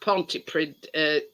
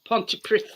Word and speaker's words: Pontypridd: It's not pronounced Pontypridd. It's Pontypridd.